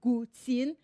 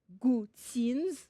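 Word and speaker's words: guqin: gtin as you can see it is here gtin gtin pronounce it with me gtin the word refers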